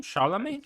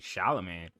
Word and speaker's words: Chalamet: Chalamet. Timothy Chalamet. Chalamet. Okay, Timothy Chalamet. No, not with the T. Not with Chalamet.